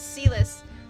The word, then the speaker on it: Silas: I want to say Silas so badly because of Love and Deep Space, but it's Silas. They have established that it's pronounced Silas earlier in the game.